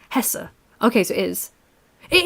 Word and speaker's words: Hesse: Well, if it's spelled Hesse, yes, it's an E sound in German. The E is, so it's Hesse.